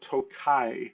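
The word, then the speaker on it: Tokaji: And the first thing we are going to talk about is a wine that is called Tokai. That is spelled T O K A J I.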